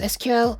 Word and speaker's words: SQL: making in person uh you can pronounce it as SQL or SQL both hierarchy okay SQL